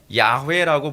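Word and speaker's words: 야훼: 그 이제 여호와라고 하 우리가 흔히 물한 발음은 여호와가 아니라 야회라고 보는 것이 옳다라고 보는 것이 요즘 학자들의 견해입니다.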